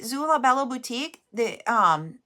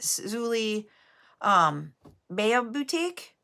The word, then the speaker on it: Zulie Bea Boutique: So Latrice, when you see Zula Bella Boutique, and that's how I pronounce it, but I know I'm pronouncing it wrong. I think she pronounces it Zulie Bea Boutique.